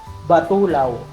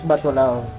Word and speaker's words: Batulao: ang tawag natin batw ang tama palang pronunciation doon ay Batulaw. Batulaw? Yeah. Batulaw. So Mount Batula not Batulao. First edition Batulawo. Are you making? No. No. That's what it is. The local said the local said it. That's what it should be. Batulaw.